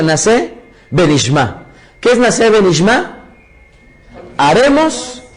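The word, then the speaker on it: נעשה ונשמע: utilizado muchísimo, que se llama, o que se pronuncia Naseh Benishma?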